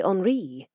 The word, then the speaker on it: Henri: He pronounced the name the French way. Henri my wife can be trusted, lad.